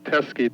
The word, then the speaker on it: Teskey: Teskey, T as in Tom, E-S-K-E. P? T as in Tom, E-S-K-E. Teskey, rhymes with pesky.